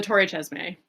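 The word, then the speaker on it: Torre Cesme: tower please oh the Tor chesme thank you which I thought it was a soft C up until right before this episode when we looked up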